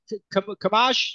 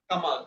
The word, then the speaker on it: Kamal: Kamaj, sorry, a pronunciation of your name. How do you pronounce it? Kamal. Kamaj? Kamal. Yeah, Kamal.